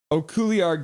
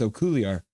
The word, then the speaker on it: Okuliar: Okuliar going to the box now. There, I said it right a couple times. Okuliar.